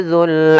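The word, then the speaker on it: ذُو: Kemudian wal habbu dzul asfi, yang dimana di sini pada lafal dzul, hati-hati dalam pelafalan huruf za-nya, jangan sampai terbaca dengan zai kembali.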